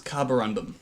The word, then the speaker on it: carborundum: It's carborundum. How do you spell that? It's like carbon and then carborundum. Undum. Yeah. Carborundum. Carborundum. Random. Undum. American. Gundam without a G.